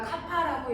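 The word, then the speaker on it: κ: 이걸 K를 우리가 카파라고 읽고요.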